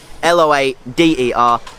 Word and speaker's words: Loader: you spell it l-o-a-d-e-r l-o-a-d-e-r loader skate park that's what this gate park is called guys it's not lotto it's loader and there you have it